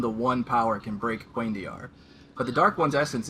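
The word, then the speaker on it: cuendillar: broken, being made of unbreakable, how do you pronounce it? Quaindiar?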